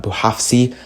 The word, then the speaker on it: Bouhafsi: RMC Sport, obviously led by Mohamed Bouhafsi, I butchered that, Bouhafsi, that's how you say it, and he's very reliable.